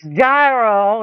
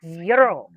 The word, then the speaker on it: gyro: It's not pronounced gyro. It is pronounced yurro. It's a gyro.